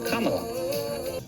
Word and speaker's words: Kamala: Just combine comma with la, and you get Kamala.